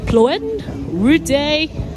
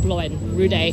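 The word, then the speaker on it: Ploen Ruedee: pronounce it so it's called Ploy rudde Night Market Ploy Ploy uh no sorry it's called Blen rud day night market so it's open from 600 p.m.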